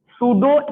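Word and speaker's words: pseudo: सूडो का spelling कहां से स्टार्ट होता है? पी से।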